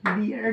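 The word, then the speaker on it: BA: তাই এম আমরা লিখতে পারি এন এল এল বি এটা ডিগ্রি এল শুরু থেকে কি এসছে এল আছে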